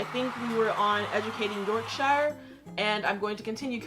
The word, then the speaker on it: Yorkshire: going to be like york sure instead of york shire evening afternoon morning howdy